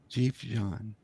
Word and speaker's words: Dživdžan: Dživdžan.